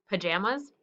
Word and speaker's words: pajamas: P, j, j, j, am, It sounds like a U, but it's an A. Pajamas. Sounds like a Z, but it's an S because it's plural.